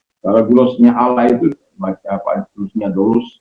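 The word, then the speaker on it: δοῦλος: Dulus bacanya dulus.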